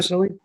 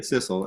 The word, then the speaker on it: Sissel: Cecily? Was that Cecil? Yeah, Sissel, and it's Oh man, she's awesome.